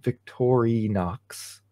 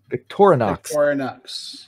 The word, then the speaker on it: Victorinox: a in Victoria Knox Victory Knox okay how do you guys how would you guys pronounce Victoria's Victorinox Victorinox all right sorry I stand corrected thank you tank 44.